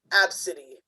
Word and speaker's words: ABCDE: Tracy Redford told ABC affiliate her daughter's name is ABCDE, which is actually pronounced Absidy. Oh. Well, that's a bougie ass name. Absidy, good God.